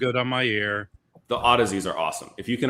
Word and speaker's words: Audeze: Odyssey is the brand name. Yeah, it's spelled AUDEZE.